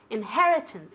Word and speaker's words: inheritance: Inheritance, okay? The accent goes there.